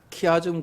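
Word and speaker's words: chiasm: 이 빌립보서를 우리가 분석해 보면은 키아즘 구조라고 보통 이야기하는데 키자가 헬라어로 보면은 X자인데 X가 키 발음이 납니다. 그래서 키아즘 하는데 이렇게 구조가 이렇게 딱딱딱딱딱딱딱딱 이렇게 X자로 돼 가지고 가운데에 핵심 메시지가 있어요.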